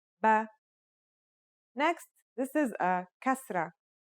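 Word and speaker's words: بَ: First, here's a fata. The pronunciation will now be ba.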